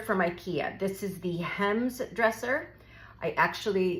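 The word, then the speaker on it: Hemnes: Ikea this is the hems dresser I actually it's spelled h m NES wasn't sure how to say it so I looked it up and it's you don't say the N so apparently this is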